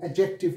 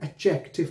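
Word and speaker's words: adjective: और फिर एक एडजेक्टिव, इसमें डी है ना वो साइलेंट है, एडजेक्टिव नहीं कहना ठीक है ना, एडजेक्टिव पढ़ना है इसको, एडजेक्टिव।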